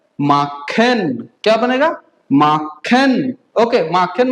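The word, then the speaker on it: machen: Okay, कुछ और bye spelling देखते हैं, ठीक है, जैसे एम ए CH E N, क्या बनता है? माखन।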